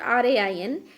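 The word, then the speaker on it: reign: the meaning of the word rain it's not r a i n it's r e i g n rain the pronunciation is it's same like r a i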